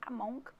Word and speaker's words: among: O between é entre dois, se for entre muitos é among, que escreve among, mas não pronuncia o G, among.